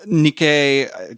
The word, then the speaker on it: Nikkei: there was or not move on but related Nikkei I think is how you pronounce that a Japanese outlet had some leaked